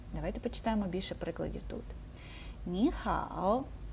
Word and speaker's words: 你好: Через це у нас перший склад змінюється на другий тон і звучатиме Це як ніхао так другий третій ніхао